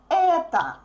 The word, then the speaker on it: это: The basic word that you can say is a word это. Это, is stressed, so the last O is pronounced like A.